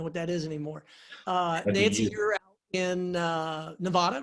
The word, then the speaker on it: Nevada: oh you know what that is anymore in Nevada right there are you in Las Vegas sorry